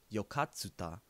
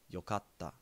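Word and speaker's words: よかった: japanese i would say yokatta if you'll notice when it's written yokatta is not pronounced yokatsuta there is a small tsu that is a little bit smaller than a regular tsu this is silent and puts a little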